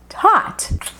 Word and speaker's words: taught: A pronúncia é simplesmente OT para todo mundo.